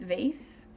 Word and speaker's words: vase: gonna be cool and you say it with a long a I think that's more the American way to say it vase but that's okay because